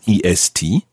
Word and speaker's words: est: You can hear the T on the end of the word A. A is spelled E-S-T. So la chambre est assez petite, but la chambre est petite. So the T is pronounced when it's followed by a vowel.